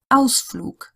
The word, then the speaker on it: Ausflug: And similar to what we've already had, if it's at the end of a word or a syllable, it sounds more like an English K. Ausflug, Anzug, Mag. It's not a proper K, it's more in that direction.